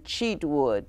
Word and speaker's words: Cheatwood: and then Cheatwood, C-H-E-A-T-W-O-O-D.